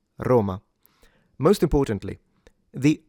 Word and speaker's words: Roma: So it's not Roma, it's Roma. Most importantly the O. So within standard Italian diction, this is supposed to be a closed O rather than an open O.